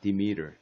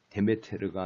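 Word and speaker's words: Demeter: 여기에 스트레스가 디미터. 데메테르가 아니고 디미터.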